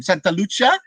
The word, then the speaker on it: Santa Lucia: your your last name santa lucia the italian pronunciation of c and are you the